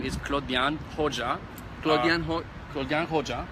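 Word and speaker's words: Klodian Hoxha: about yourself so translation of my name is Claude young hoja plugin ho gung ho ja ok I go by and actually it's a professional name or the American pronunciation is Claudia knocks up whichever it works it's all good for me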